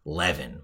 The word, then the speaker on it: Levin: One of the few times I use the New York pronunciation of Levin, mikelev.in, because it wouldn't sound right. You'd all go to the wrong website.